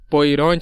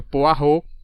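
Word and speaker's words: Poirot: eu tava chamando o poiron né detetive poiron aí ele me corrigiu a pronúncia na verdade que não é poiron É poar então agradeço deixo aqui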